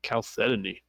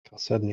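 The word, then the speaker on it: Chalcedony: C H A L Cedoni, but it's it's it's a silent H.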